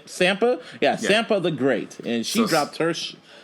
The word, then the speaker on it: Sampa the Great: say it right is it s sampa yeah sampa the great and she dropped her called